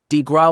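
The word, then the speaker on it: coup de grâce: The Killing below the coup de grace pronounced DeGraw was delivered upon the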